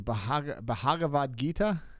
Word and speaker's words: Bhagavad Gita: You're talking about Bhagavad Gita, baby. Thank you. Bhagavad Gita? That's how you say it.